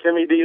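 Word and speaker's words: Tim E-D: But I do actually pronounce it Timmy D sometimes, but then the problem you get is people start spelling it T I M Y.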